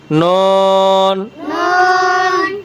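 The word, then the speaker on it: ن: ফা ফা নুন নুন নুন নুন নুন নুন এই নুন উচ্চারণ সময় হারফের মধ্যে নুন এবং ওয়াও এই দুইটা হরফের উচ্চারণের সময় দুই ঠোট গোলাকার হবে।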